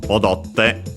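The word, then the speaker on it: 踊って: So odotte. The accent for te forms is on the third to last syllable, so in this case it stays the same.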